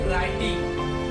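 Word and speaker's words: writing: डब्लू का silent होगा डब्लू के तुरंत बाद आर आ जाए तो डब्लू साइलेंट होगा जैसे राइटिंग तो राइटिंग आपने पढ़ा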